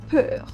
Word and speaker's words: peur: Then we have E plus U. That will be pronounced like U. Okay? U. Like U. Like in cats. Okay? U like in cats. Example, peur.